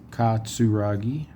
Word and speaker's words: Katsuragi: Katsuragi. Again, TS at the beginning of the syllable.